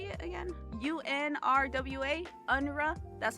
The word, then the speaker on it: UNRWA: UNRWA, UNRWA.